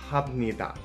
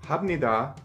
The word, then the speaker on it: 합니다: And it sounds like ham, but it's ha. 합니다 means I do or I am doing.